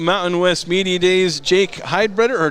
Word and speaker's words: Heidbreder: Jake Heidbreder, or did I say that right? Heidbreder, but it's Heidbreder, close okay.